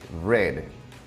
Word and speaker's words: read: el verbo leer read su pasado es red se escribe de la misma forma o sea se deletrea art en ambos casos pero su pronunciación cambia cuando nos referimos al pasado luego tenemos el verbo